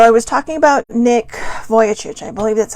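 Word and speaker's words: Vujicic: something yesterday so i was talking about nick voyacic i believe that's how you say his name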